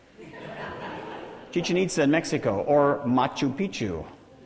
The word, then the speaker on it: Chichen Itza: I had a tour guide once say, no, this is not pronounced chicken pizza. Chichen Itza in Mexico, or Machu Picchu.